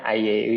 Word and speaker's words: IAU: Bacanya IAU ya.